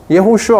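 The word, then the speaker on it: יהושע: 예호슈아 어디서 많이 들어봤죠? 여호수아. 여호수아. 그쵸? 여호수아라고 하는 히브리어 이름으로 하면 예호슈아예요.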